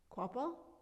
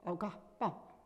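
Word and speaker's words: Ogahpah: It kind of got changed over the years because people couldn't say our name or spell it, so we ended up O-Gah-Pah. But our real name is O-Gah-Pah.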